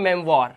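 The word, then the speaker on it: memoir: क्योंकि यहां पर आप देख रहे हो ओ आई के बाद आर लगा हुआ है। तो ओ आई का उच्चारण इसने वा कर दिया।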